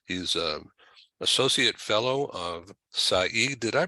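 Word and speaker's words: Saïd: I'm reading this he's a associate fellow of Saeed did I pronounce that right Saeed well that's it perfectly Saeed a business school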